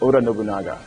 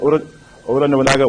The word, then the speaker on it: Oda Nobunaga: The first is Oda Nobunaga. In Japanese, things are pretty much phonetic, so the way you see it is how you say it.